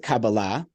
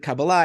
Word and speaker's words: Kabbalah: So I pronounce it Kabbalah, but Kabbalah. I'm open to different pronunciations. That's sort of a more modern Hebrew pronunciation. Kabbalah is more Ashkenazi, from sort of the Eastern European Jewry.